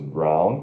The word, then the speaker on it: brown: blue, Aí nós temos brown, que significa marrom ou castanho, né? Aquele castanho escuro, né, pra gente. B-R-O-W-O, brown, né? Mas se pronuncia B-R-A-U ferradura N, brown, brown.